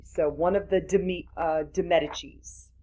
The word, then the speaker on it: Medici: one of the de Medicis, Medicis, if you're going to pronounce it in Italian, in 1460s.